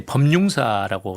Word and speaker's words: 호류지: 이런 말씀드리고 그다음에 지금 친교 행사로 이제 오늘 호류지를 같이 방문한다. 네. 호류지가 뭐예요? 호류지는 이제 법융사라고 쓰는데요. 아 법융사. 네. 아, 그게 일본식 발음 호류지입니까? 맞습니다.